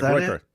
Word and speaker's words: Groyper: Yeah, Groiper.